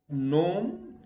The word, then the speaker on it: gnome: When G follows an N, it is silent. Okay, and the examples are Dane, foreign, no, gnome, benign, sign, or yes, sign, malign, design, resign, feign. Words where H is always